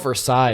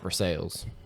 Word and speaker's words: Versailles: It's called Versailles in France, not Versailles.